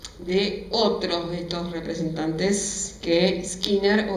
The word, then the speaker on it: Skinner: otros dos representantes que skinner giner por lo general se pronuncia esquina y acá vemos también